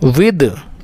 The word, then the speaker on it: with: विद, अब इसको कुछ लोग विद पढ़ते हैं और कुछ लोग विथ पढ़ते हैं। आपको बता दूं कि दोनों का प्रोनाउंसिएशन सही है, विद भी सही है और विथ भी सही है, दोनों आप पढ़ सकते हैं।